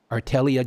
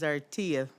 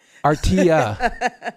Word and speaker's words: Artelia: And the pronunciation is Artia. That double L is a Y. Artia, good to see you, Artia.